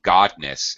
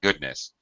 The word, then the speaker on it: goodness: Pronounce this as thank godness. It's thank goodness.